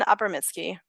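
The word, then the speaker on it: Abramitzky: Well, can you tell me how to pronounce Ron Abramsky's full name? I don't think I said it right. Ron Abramitsky.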